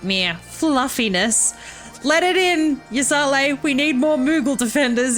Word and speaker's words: Ysayle: dravanian can't quite say I've heard someone pronounce her name like that what did I say Yale it's Yale isn't it such contradictions aside our